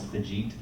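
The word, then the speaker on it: Fagit: new student from India whose name is Fajit, but it's spelled F-A-G-I-T.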